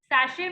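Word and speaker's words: sachet: small सशे small सशे सशे में टी जो होता है वो साइलेंट होता है पता है ना ठीक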